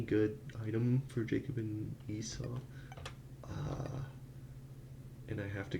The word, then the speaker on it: Esau: Esau. Oh, Esau. Eso. Oh, I've been pronouncing me Isa. Esau.